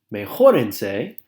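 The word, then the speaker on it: mejórese: end ending up with Mae Horton say placing an accent on the O because it is the accident syllable here make Horton say get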